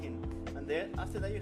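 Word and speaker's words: Kʼin: Kin is how you pronounce it, but it's a flower. Kin. Oh, You okay. pronounce it Kin.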